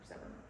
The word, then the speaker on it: persever: Which is how you would pronounce that, persever.